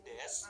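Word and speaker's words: です: Kemudian des adalah penanda kalimat positif. Des juga sama. Des dari kata desu, tapi kebanyakan ketika diucapkan bunyi u di akhir kata itu sering dihilangkan. Jadinya cuma dibaca des. Jadi kata benda satu wa,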